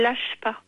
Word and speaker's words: LACHPA: Mais l'appel à projet qu'on lance, il a un nom très particulier dont tout le monde se souviendra, il s'appelle LACHPA. LACHPA, oui, en effet. Ça s'écrit L-A-C-H-P-A.